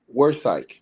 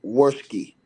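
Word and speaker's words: Wirskye: a prosecution they led uh by first assistant district attorney uh Bill Worsk right um and or excuse me Bill Worski rights I apologize that's how you pronounce his name and he basically came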